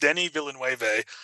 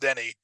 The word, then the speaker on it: Denis Villeneuve: It's pronounced Denis Villeneuve. The last That is name I've heard a okay. lot, but his first name is pronounced Denny.